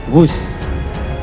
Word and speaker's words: Whoosh: Sekali lagi W H O O S H tapi bacanya wus.